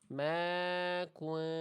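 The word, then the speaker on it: مَا كُنْتُمْ: Ma kun kuntum. Harusnya dibaca samar bunyi nunnya ya. Ma kuntum. Ma kuntum. Ma kuntum. Ya, itu kesalahan pertama. Jadi bunyi nunnya jangan sampai dibaca jelas.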